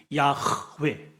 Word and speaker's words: 야웨: 이름 속에여이 본래 이제 여호와라 그러잖아 우 우리나라는 여호와 하나님 근데 원래 이제 발음이 야웨 이거든요 여기에는 동사형 명사로 쓰인